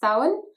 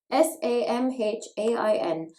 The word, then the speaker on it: Samhain: pagan times and actually the irish word is sauen s-a-m-h-a-i-n no not samhain supernatural i'm looking at